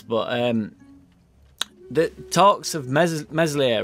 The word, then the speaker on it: Meslier: um the talks of mesolith right uh silent s so it got dropped